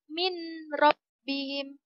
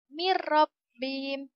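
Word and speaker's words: مِنْ رَبِّهِمْ: contoh saja huruf roh Bagaimana pelafalannya yang pertama itu menurut bihim kita membaca dengan mint robbihim tipe salah ya nak anak Bagaimana yang benar nyabu menjadi Miro bin mirrobbihim tidak boleh berdengung tidak boleh berdengungnya ingat mirrobbihim bukan mirrobbihim itu salah itu serangannya itu ada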